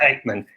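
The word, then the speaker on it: Aickman: We pronounce it Eichmann.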